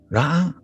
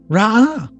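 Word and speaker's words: רעה: Both sound exactly alike. Only someone whose native language is Hebrew, not me, would be able to detect the slight subtle difference in sound.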